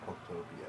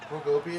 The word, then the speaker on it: Pokopia: I keep calling it Pokotopia, but it's not. Pokotopia is the name of the island in Battle Revolution. But Pokopia is going to be